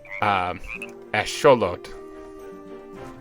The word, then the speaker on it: axolotl: But I thought this was pronounced Axolotl, but everyone's saying axolotl, which I don't think so. I mean, it looks Aztec. It's Axolotl. So I don't know.